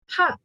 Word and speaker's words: H: So in German, it's ha. Ha.